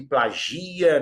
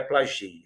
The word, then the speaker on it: plagia: Ele plagia, não é plagia.